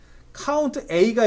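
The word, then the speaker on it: COUNTA: 개수를 말 그대로 개수를 세는데, 카운트 A가 있고 밑에 카운트라고 읽지 마세요. 카운트 all의 줄임말입니다.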